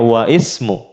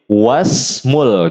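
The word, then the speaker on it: وَاسْمُ: Tapi kalau di tengah langsung nggak bisa kita bilangnya wa ismu. Harus kita gabung menjadi wasmul gitu.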